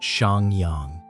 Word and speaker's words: Shang Yang: His name is Shang Yang, pronounced Shang Yang.